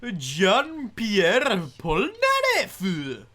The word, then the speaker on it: Jean-Pierre Polnareff: He's Jean-Pierre Polnareff.